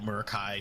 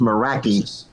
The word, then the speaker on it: Meraki: Like, you'll get that Murukai stuff if you want to use that. That's going to be an extra cost. But Shaw also provides Pronounced Meraki.